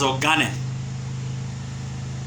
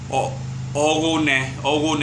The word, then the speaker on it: Ogane: There was the Portuguese referred it as Ogane. The old Yoruba people mispronounced it as Ogone. I think they didn't pronounce it well. Instead of GHE, they wrote it as GHO.